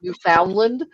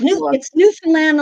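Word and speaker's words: Newfoundland: Finland and lavador yes so notice I said labor not labador Newland and not New Foundland or it's newand and Labrador newand Labrador newand Labrador that's how they pronounce it yep absolutely yeah so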